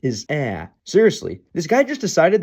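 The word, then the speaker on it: Ә: the same symbol, or but its most common pronunciation is ah.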